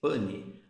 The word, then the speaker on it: pan: Escreve-se pan, pronuncia-se pane.